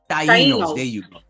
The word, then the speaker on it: Taínos: Is that, I keep messing it up, the pronunciation. Taínos.